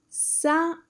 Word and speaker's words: Sábado: Sábado. Sábado. Sábado. That's Saturday. And again, you put your stress sound over that syllable where you see the accent mark.